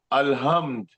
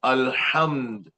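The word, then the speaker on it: الحمد: For example, if I say alhamd, that is not right. I must say alhamd.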